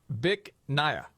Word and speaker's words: Bich Nga: because the name of the restaurant um you pronounce it Bich Nga. Bich Nga?